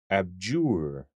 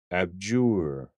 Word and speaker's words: abjure: this word is pronounced abjure abjure abjure emphasis on the second syllable abjure look at these